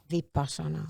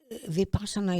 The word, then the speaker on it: Vipassana: Vipassana. So is meditation a part of your life? Yes. How often do you meditate? Well, possibly daily, possibly an hour a day, but sometimes less. It depends. But Vipassana is being aware, bringing your awareness in your